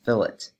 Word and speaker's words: fillet: and that is fill it remember that it is pronounced fill it not fillet as in the fish as in the fish